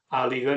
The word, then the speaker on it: áliga: Eh, son nombres derivados de la palabra alga que allí suelen pronunciar. áliga, no alga, sino áliga.